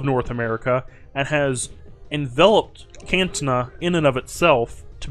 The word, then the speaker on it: Candtuna: I keep saying Candtuna. That's how you pronounce it.